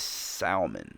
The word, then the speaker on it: salmon: but a vowel and then a consonant, why would you not pronounce the consonant after the vowel? You make a valid point, and you might be right. The proper way to say salmon is salmon.